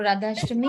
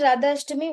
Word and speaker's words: Radhashtami: What was Radhashtami about? Mataji, Radhashtami is very good because like Radharani is getting born. Appearance of Radharani, right? Mataji, it's birthday of Radharani. It's just like it rhymes in like Janmashtami.